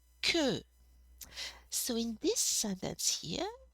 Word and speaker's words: que: and ku you want to make sure you pronounce ki ku so in this sentence here section it's a